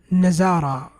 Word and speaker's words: نظارة: طيب, نظارة, nazara. You see why? Difference between dha and zai, massive difference. Okay, has to go back to the sounds.